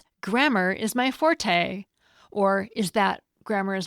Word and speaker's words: fort: I'm told that in French, you don't pronounce the T on the end, so it's more like for.